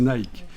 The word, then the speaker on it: Nike: nické Nike savez qu' en principe ça se prononce nické parce que ça c'est une desse de l'Antiquité la DESS Nick mais bon comme c'est pas très bien vu pour l'instant notre époque on va prononcer Nike on va garder l'adjectif